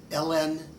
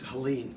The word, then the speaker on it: Hélène: Recently, I wrote about an Egyptian Jewish lady who, Hélène, it's Helene, but pronounced in French because her father was French, Hélène Weber, Hélène Avigdor Weber.